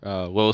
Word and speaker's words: Lowell: So again, this is called a Lowell Sphere or Lowell Sphere, depending on how you say it. On his Beyond the Brick interview, he says it Lowell kind of faster, so I'll try to stick to that.